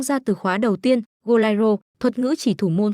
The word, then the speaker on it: Goleiro: Cậu ta chỉnh lại rằng từ đúng phải là Goliro phát âm bằng chữ E chứ không phải chữ A.